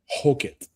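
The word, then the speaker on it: Hokit: Uh, so Josh Hookit is, uh, is the proper pronunciation.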